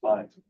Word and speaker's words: Fines: I've been pronouncing your name wrong several months. I apologize. It's Fines.